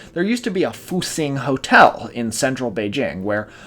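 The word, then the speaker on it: 复兴: and and called this that's pronounced fing and it means Rejuvenation roughly I've seen it translated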